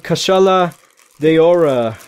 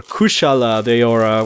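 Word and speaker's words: Kushala Daora: Here we have Kashala Deora, or Kushala Deora, whatever you wanna, however you wanna pronounce it is fine. Technically it's a U, so I guess it's Kushala or Kashala.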